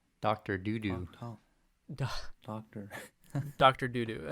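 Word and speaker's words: Dudu: Doodoo.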